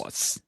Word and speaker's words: Dawes: Rachel Dawes. Dawes. That's the correct way to pronounce it.